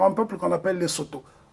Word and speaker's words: Sotho: C'est le cas du Lesotho, et qui est majoritairement habité par un peuple qu'on appelle les Soto. Soutou, ça se prononce en langue locale.